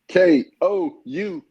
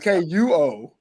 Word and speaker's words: Kuopio: KOUPO Steeler.